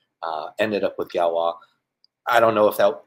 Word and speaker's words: Galois: a mouthful to say uh ended up with galwa I don't know if that ended up being